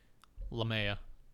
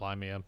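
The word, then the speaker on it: Lahmia: ] that up again lamea not limea no no no why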